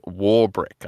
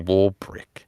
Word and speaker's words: Warwick: So I was like, oh, that must be Warbrick. Is it? I'm pretty sure it's like Warwick, like right? Is there a B? Oh yeah, I think that's probably how you say it.